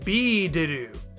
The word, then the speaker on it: Biideru: supposed to be lengthened the first vowel sound is changed from what it is in Devil to a long e sound you can very easily hear that in B to do the actors are very